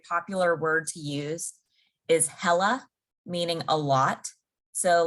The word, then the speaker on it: hella: If I were in California, especially Northern California, they might say, I'm hella tired. hella like hell of tired. Like, yes, like HELLA, hella.